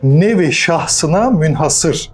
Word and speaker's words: Nevi şahsına münhasır: Bazen munhasır olarak da duyuyoruz ne yazık ki ama öyle söylenmez. böyle söylenir. Nevi şahsına münhasır. Gelelim Hamit'e.